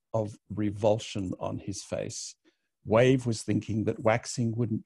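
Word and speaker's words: Wayve: Ruby on the ship, she has a kind of a one-night stand with a brainless person whose name is Waver, W-A-Y-V-E. He pronounces it Wave.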